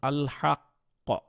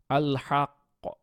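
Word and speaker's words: الحق: উপরে কিন্তু অনেক ভালোভাবে এফর্ট দিয়ে আপনাকে কলকলাটা উচ্চারণ করতে হয়েছে তারপর ধরেন আল হাক্ক আল হাক্ক আল হাক্ক এখন এখানে কিন্তু অনেকটা আল হাক্ক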